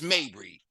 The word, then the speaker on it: Mabry: pronouncing Balenciaga and all that other we're gonna pronounce Mabry I appreciate it yeah so this is open